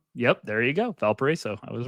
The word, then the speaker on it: Valparaiso: Valparaiso. Yep, there you go. Valparaiso.